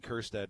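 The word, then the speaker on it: Kjerstad: young GM's poor Heston kirsta not a single member of the Baseball Hall of Fame all three hundred and thirty three of them have his silent Jay in their last name so boy it's just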